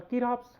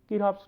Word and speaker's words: Kirchhoff: So, actually the C should remain silent in pronunciation, it will be Kirchhoff's laws, right.